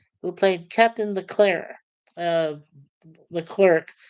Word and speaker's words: Leclerc: Uh, Leclerc, some people pronounce it, but I believe it's in French, so it's Leclerc.